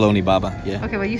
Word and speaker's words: Onibaba: say it or it is it's actually called onibaba yeah okay well you say very fast shout